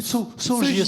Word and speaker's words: Saugier: Ou Saugier, c'est bien ça, monsieur? C'est la bonne prononciation.